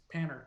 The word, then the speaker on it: Panner: true mine uh just Panner just as it looks Panner okay perfect nice and